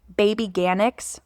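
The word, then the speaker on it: Babyganics: I've been using this brand called Baby Ganics. Like literally, it's like the word organics, but instead of O in front of it, it's baby.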